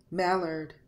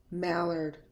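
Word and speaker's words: mallard: sound of er when AR is in a an unstressed syllable is pronounced R sound here the letter A R is pronounced as ER let's take a look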